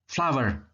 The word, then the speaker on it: flour: Flour, tepung. Jadi pengucapannya kayak bunga ya, flower.